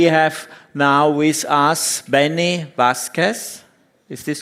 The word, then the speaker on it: Vasquez: And we have now with us Benny Vasquez. Is this correct, how I pronounce it? Yes, Benny Vasquez from AlmaLinux OS Foundation.